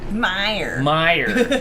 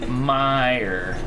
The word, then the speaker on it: Meijer: Meijer. Meijer.